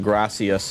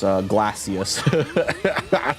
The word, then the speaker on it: gracias: I remember pronouncing gracias, glacius. I was just like, I don't know what I was doing, dude.